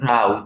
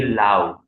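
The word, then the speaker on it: เรา: So let's do it Rao. This is how it's supposed to be. Oftentimes people will say Lao because they get used to it, but the official way is to say Rao, like road, yeah, like Ratri.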